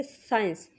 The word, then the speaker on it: science: तो साइंस चूँकि सी एस का वर्ड यूज़ होता है ना शुरू में, साइंस, तो आप प्रोनाउंस करेंगे साइंस।